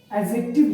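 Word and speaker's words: adjective: एडजेक्टिव, इसमें एडजेक्टिव इसको बोलते हैं। डी इसमें साइलेंट होता है।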